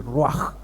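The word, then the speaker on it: רוח: pensamiento hebreo la palabra espíritu es raj se pronuncia as raj y es un soplo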